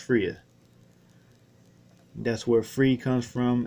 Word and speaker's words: Freya: Forgive me if I get that wrong, but that's the Norse goddess Freya or Frigga. It reads like Frigga, but it's actually pronounced Freya.